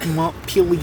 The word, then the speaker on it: Montpelier: Actually, it's pronounced M Pier Berlin.